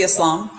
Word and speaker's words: Islam: I mean, it just depends on the pronunciation, but Islam. It's supposed to be Islam.